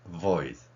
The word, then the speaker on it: voice: 그래서 voice, voice 이 발음을 억지로라도 윗니로 아랫입술 물고 해보세요.